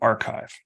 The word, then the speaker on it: arXiv: But then I discovered the archive, spelled ARXIV, with the X being pronounced like the Greek letter chi.